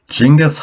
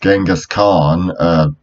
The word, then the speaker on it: Genghis Khan: Raymond actually knew but jingis on whom people often mispronounced his name as Genghis Khan because they were a success they read it when the Mongolian language doesn't have a hard C sound and Russia rounded chingus